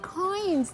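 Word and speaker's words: quoins: Oh, Nadia, this brick building has coins.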